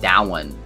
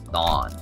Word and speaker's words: Dawn: It's not Dowan. It's Dawn.